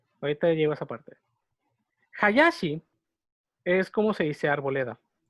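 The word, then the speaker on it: 林: aquí en México hay Hayashis que lo pronuncian como Hayashi. Porque pues aquí en México la H no suena, pero en japonés sí.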